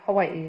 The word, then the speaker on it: Hawaii: which islands Coney Catalina a thousand I'm from Hawaii Hawaii is that the correct pronunciation I thought it was how I know that's not right Hawaii is correct oh you couldn't say Hawaii just